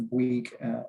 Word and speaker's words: Bouygues: So we are Bouygues, and it's spelled B-W-E-E-G as if you were pronouncing it.